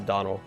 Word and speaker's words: Donal: my own name but it is pronounced to Donal it's like Donald without the D anyway let's move on